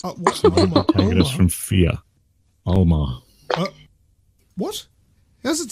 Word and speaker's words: Alma: Alma.